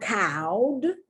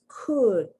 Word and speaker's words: could: look at the pronunciation it's not cowed it's not cold it's could uh the short u sound could would very